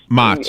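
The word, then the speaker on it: Maats: It's Mots. in Holland you would say Mots, but this is America. We had Ellis Island. Nobody's name gets pronounced the way that it was pronounced in the old country.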